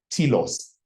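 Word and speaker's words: telos: word that we always use is uh pronoun is spelled t e l o s TS TS means end or goal so the goal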